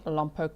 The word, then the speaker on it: Lompoc: UB Avatar said you are pronouncing Lompoc correctly.